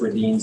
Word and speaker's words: Redens: Everybody locally says Redens, they pronounce it Redens.